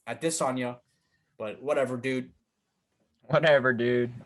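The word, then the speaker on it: Adesanya: be pronounced now because now he said i wanted to be addisonia so i was trying to be respectful like ariel helwani and call him at this on you but whatever dude whatever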